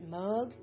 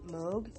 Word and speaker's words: Moog: and I can never figure out if I pronounce it correctly. Is it Moog? Meg? M-O-O-G, the synthesizers. If you just pop in his name and Moog, I think that's how you pronounce it, is Moog, yeah.